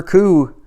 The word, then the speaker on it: Coup: and that's it for coo and i wonder how many times i said coop in this video i probably did at least once because that silent p gets me every time but that's it for